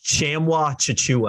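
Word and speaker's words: Tchamwa Tchatchoua: I got to pronounce it. I actually looked this one up on Google. It's Chamwa Chichua.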